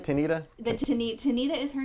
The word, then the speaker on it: Tanita: So basically, Am I saying it right, Tanita? Tanita is her name. We call her Tanita.